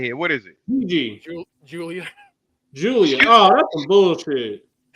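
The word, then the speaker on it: Giulia: G-I is it gets that J sound.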